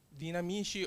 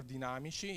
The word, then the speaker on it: DinAmicI: So DinAmicI or DinAmicI is just the word that you prefer to spell, to pronounce this name.